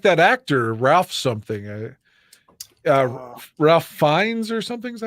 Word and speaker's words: Fiennes: Ralph Fiennes or something. Is that how you say his name? Ralph Fiennes.